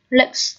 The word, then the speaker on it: lakes: sau K, vì chữ E coi như là câm. Lakes chúng ta đọc lên không có âm E ở trong này, cho nên coi như là E câm.